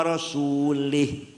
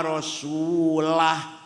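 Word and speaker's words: وَرَسُولُهُ: Wa annallaha bari'um minal musyrikin wa rasulih. Allah tidak melindungi orang musyrik dan tidak melindungi Rasulullah. Salah. Yang benar bacanya wa annallaha bari'um minal musyrikin wa rasulah.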